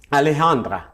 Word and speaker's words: Alejandra: Alejandra. Oui. C'est bien comme ça que ça se prononce? Parfait.